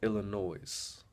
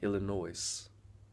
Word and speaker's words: Illinois: say if you said Illinois's all right if you see if you pronounce Illinois like Illinois and I say look bro that's not how you say it it's actually Illinois the S is silent pieces of your brain